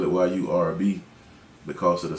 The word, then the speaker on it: Yurb: But I spell it Y-U-R-B because of the sound, and then I do R&B music, so that's where the R&B came at the end.